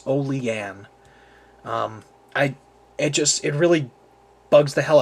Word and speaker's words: Olean: And it really bugs me whenever I hear a knife reviewer here on YouTube pronounce it Olean. For Christ's sake, it is not Olean. It's Olean.